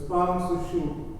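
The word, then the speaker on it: पांसुषु: That last word on the third line, it has a P because in the Sanskrit it's one long line, so you run it into the next word. But since it's broken into 4 lines, you pronounce it as a U. So it's Pamsushu.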